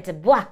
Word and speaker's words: DuBois: Well, this is my sister, Muffy, and we are the DuBois sisters. The L is silent.